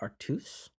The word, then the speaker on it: Artois: know live the life Artois whatever that nonsense is about so I was taught um actually about my friend Jay um to pronounce it it's still artiste sure it's the proper pronunciation and that actually was